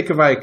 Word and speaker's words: Kveik: Yeah, I'd say Kveik, and that's based off of we have an